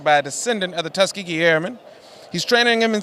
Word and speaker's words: Tuskegee: Greg they're showing off teskigi airs Tuskegee airs and I say it correctly all right all right